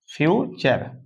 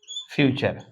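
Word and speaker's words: future: नेचर कल्चर और फ्यूचर तो यू आरई जो अंत में आ रहा है यह चर पढ़ा जा रहा है लेकिन इस शर्त है कि यू आरई टी के बाद ही आएगा तभी चर पढ़ा जाएगा तो इसको मिला के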